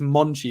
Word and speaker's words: Monchi: I think it's Monchi is how you say it. It's CHI.